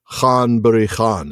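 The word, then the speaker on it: Ghân-buri-Ghân: It is Khan Buri Khan.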